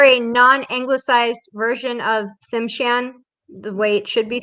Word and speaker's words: Tsimshian: s s i m s h a Ann siman Simian okay it's uh it's an English uh